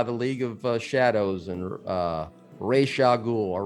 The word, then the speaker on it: Ra's al Ghul: League of Shadows and Ra's al Ghul, or Ra's al Ghul as they pronounce it in the trilogy.